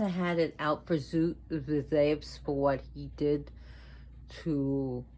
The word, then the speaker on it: Zeus: Zeus, her father, who's pronounced Zeus in America, but in Greek is Zeus. The U is actually like a V, so Zeus.